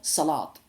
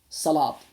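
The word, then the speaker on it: salaad: spelled with a d Salat but sometimes pronounced sort of a little bit of a t sort of sound at the end so that that that's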